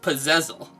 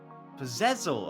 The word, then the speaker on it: Puzezl: At least to my understanding, this game is pronounced Puzezl. Puzezl. Okay, so the emphasis is wrong. Because I was trying to pronounce like puzzle.